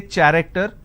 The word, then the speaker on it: character: So you see the word character. I have the letter CH and it's pronounced as K. I don't say character, I say it character.